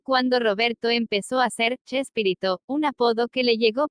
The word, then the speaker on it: Chespirito: Y la pronunciación españolizada del apellido de William Shakespeare, unida al diminutivo Shakespearito, fonéticamente Chespirito, dio lugar a Chespirito.